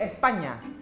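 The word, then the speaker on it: España: Bacalah sebagai Espanya. Spanyol? Ya. Tidak ada huruf Y di dalamnya. Nah, jika ada huruf 'n' dengan tanda tilde di atasnya, itulah yang terjadi.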